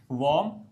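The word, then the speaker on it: warm: ध्यान देना are silent रहेगा। बहुत सारे लोग वार्म बोल देते हैं। That is not correct. और ऊपर से डब्ल्यू की जो प्रोनंसिएशन रहती है वो खुले लिप्स से नहीं बोली जाती। अ वार्म आ का साउंड नहीं किया जाता। इसमें हल्का सा औ का साउंड करेंगे आप।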